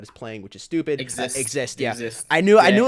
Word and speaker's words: Exist: Exist. I knew I knew it was spelled I was going to say Zeiss. I had to remember how to say it. So it's spelled Zeiss, but it's actually exist.